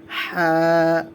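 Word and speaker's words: حاء: এটার নাম হয়ে যাবে হা। চিকন করে গলার ভিতর থেকে হা, হা। একটু খেয়াল করবেন, এখানে অনেকে হা বলে ফেলে, হা মোটা করে হবে না, এটা গলার ভিতর থেকে চিকন করে উচ্চারণ করা হবে।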